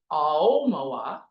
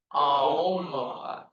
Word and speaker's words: Aomawa: So it's pronounced Aomawa. The emphasis is on the O.